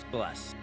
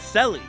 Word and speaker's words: Celes: So my whole life I've been calling this character Celeste, but her like like I was calling Lock Locky for my whole life as well. Cies, but her real name is Cis.